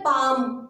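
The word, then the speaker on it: palm: हो रही है और एल इसमें हमारा साइलेंट रहता है फ्रेंड्स। तो इस वर्ड को हम पढ़ते हैं पाम।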